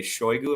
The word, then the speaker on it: Shoigu: It seems like a sort of rivalry has developed between Prigozhin and Sergei Shoigu. Am I pronouncing his name right?